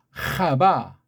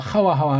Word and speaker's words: 하와: 이름을 불렀다 뭐라고 불렀죠 하바 우리 뭐 하와하와 하는데 거기다 영국식 빗나간 바람이니까 하바 그렇게 발음합시다 하바요 이름 전까지 3장 16절까지는